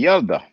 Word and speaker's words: ילדה: But that's boy, ילד, and girl should be yelda. Yelda. Girl, ילדה, there it is.